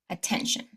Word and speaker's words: attention: So, our first goal is to find the word with the shin suffix, stress the syllable right before the shin, and then do the sentence. Number one, attention.